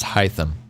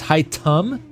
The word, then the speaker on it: Haitham: you're right okay fair every other language pronounced it as high them item oh not even high thumb it's high tum like with a instead of a I'm curious how this